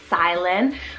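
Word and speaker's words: Cylan: list here next up we have Silence c-y-l-a-n silin with that nickname of Psy so cool this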